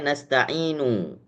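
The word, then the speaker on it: نستعين: Misalnya contohnya, eh Iyyaka na'budu wa iyyaka nasta'inu. Seharusnya nasta'inu. Maka kalau cara mewakafkan dengan cara ismam dengan membacanya nasta'in. Jadi nasta'in cuman isyarat saja bibirnya monyong ketika diwakafkan. Nasta'in itu namanya ismam.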